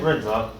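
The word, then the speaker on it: Runze: My first name, Rinza, Can you spell it?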